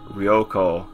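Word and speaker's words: 旅行: the r in it rioo and it also has the long o at the end rioo for traveling all right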